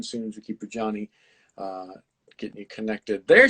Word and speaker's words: Jawnie: the things um i my name is johnny i know that's one thing a lot of times people get really nervous before um they say my name especially like on something live they're like it's johnny right because it's spelled differently so people get nervous